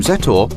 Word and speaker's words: Zetor: 20th century the name set or comes about as a combination of zet the way the letter Z is pronounced in check and the